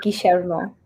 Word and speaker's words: Guillermo: So with an accent, it would be Guillermo.